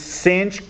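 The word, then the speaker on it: sinh: and kosich yeah actually the pronunciation for yes so it's cinch coach stench those are easy to pronounce but when it comes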